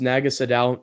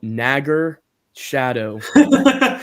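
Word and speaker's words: Naga Sadow: Because he's from Louisiana, so he's got like that deep Southern accent, and he calls Naga Sadao Nagger Shadow. That's how he says his name.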